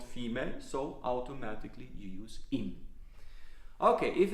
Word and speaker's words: im: If you have in dem, which is almost always pronounced as im.